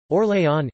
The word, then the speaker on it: Orléans: or lay on UK French pronunciation Lee is a Prefecture in commune in